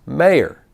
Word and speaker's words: Moyer: say good morning Mr Moyer would you please stay and spell your name for the record and he responds it's pronounced mayor I said oh and